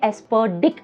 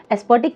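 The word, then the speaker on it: aspartic: एस्पर्टिक acid को आप 3-4 बार pronounce कीजिए, एस्पर्डिक एसिड, एस्पर्टिक नहीं एस्पर्डिक।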